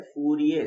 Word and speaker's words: फूरियर: फूरियर जो सीरीज है, फूरियर series, are आखिर वाला साइलेंट है, वो ये कहता